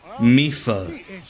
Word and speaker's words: Medford: Okay, Medford locally is pronounced Mifa.